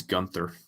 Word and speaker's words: Gunter: I think there's a silent H. I think it's Gunther.